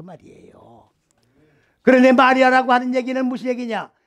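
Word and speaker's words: מִרְיָם: 그런데 마리아라고 하는 얘기는 무슨 얘기냐? 요거는 미르암이에요. 미르암. 원 발음은 미르암입니다.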